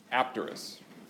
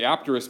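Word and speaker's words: apterous: from Greek and the in Greek it would be a silent P so would be terx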